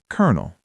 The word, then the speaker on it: colonel: It comes from French history. Just memorize it. Colonel.